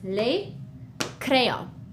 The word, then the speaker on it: les: see the s is we don't pronounce it we write it we see it when we read it but it's just leo all right good job